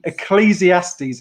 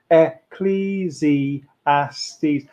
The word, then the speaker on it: Ecclesiastes: say that fred ecclesiaste ecclesiastes everyone at home now is going ecclesiastes um how many syllables er cleezy ass these five syllables in that that's a